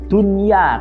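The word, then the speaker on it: دُنْيَا: wajah dunia atau dunia Nah itu bacanya dunia Kenapa karena itu nun mati dan huruf Idgham Bighunnah nya dalam satu kalimat makanya tidak bisa dibaca dunia tapi tetap dunia Terima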